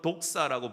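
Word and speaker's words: δόξα: 이거는 헬라어로 독사라고 부릅니다. 독사. 독 있는 뱀이 아니고 그냥 발음만 독사예요.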